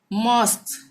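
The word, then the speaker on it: mosque: ठीक है, जैसे मॉस्क, यहाँ पे क्या है?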